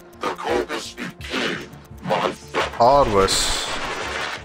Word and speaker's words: Parvos: Parvos. That's how you pronounce it.